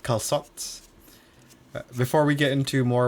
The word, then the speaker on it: calçot: Apparently that way just to signify that you pronounce the C soft instead of hard. So instead of saying calcot, you'd say calçot Calçot.